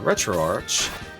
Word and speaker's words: RetroArch: hope that makes sense so retroarch or retroarc depending on how you pronounce it has run ahead